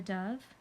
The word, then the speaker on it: dove: beautiful bird called a dove dove rhymes with love nobody wrote about hamsters